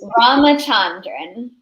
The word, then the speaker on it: Ramachandran: Ramachandran.